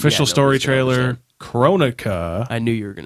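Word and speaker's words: Kronika: It's Chronica.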